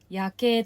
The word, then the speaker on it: 夜景: 夜景、夜の景色と書いて夜景と読みます。